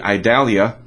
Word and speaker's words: Idalia: nailed Sandy well this name would be idalia I think that's how you say it I D A L